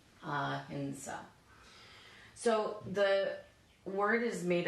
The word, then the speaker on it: ahimsa: The little dot, a hing. And then this is the letter sa. And then we have a long a after the sa, so we're going to draw an extra staff. That makes it the long a, ahinsa, ahinsa.